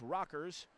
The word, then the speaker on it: Rakers: And when you've got, of course, it's spelled Rakers in Quincy. It's rockers.